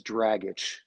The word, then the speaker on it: Dragich: I just went to Ped, and the last name is Dragich, just like you drag your foot and you itch.